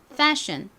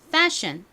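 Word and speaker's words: fashion: 그 단어 패션이 됩니다 여러분 요거 발음하실 때 앞부분을 좀 세게 발음을 해주셔야 돼요 따라해 보세요 패션 한 번 더 해볼까요 패션 아니고요 좀 세게 패션 좋습니다 자 여러분 이제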